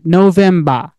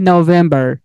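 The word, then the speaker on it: November: তো যদি ব্রিটিশ এটা উচ্চারণ করে দেয় তাহলে তারা কি বলবে, তারা লাস্টের আরটাকে উচ্চারণ না করে ব্রিটিশরা বলবে যে নভেম্বা, মানে তারা আরটাকে এইচ এরকম উচ্চারণ করে চলে যায় লুকোচুরি হইরা।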